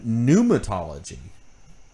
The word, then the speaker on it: pneumatology: evil and then yeah pneumatology uh which is the silent p uh of um pneumatic